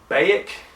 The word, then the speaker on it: Baek: I never knew how the fuck to pronounce his name, even in the game. It's like Baek, B-A-E-K, is the character he fucks up in this scene.